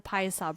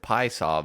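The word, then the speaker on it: Piasa: here called Pasa Illinois I think they just pronounce it P saww but hey whatever you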